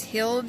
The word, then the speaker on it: Hilde: Hi, my name is Hilde. It rhymes with Buildy.